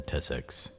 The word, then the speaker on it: tussocks: cameras hiding in the tussocks. I stood there for a while feeling foolish, Tussocks rhymes with butt.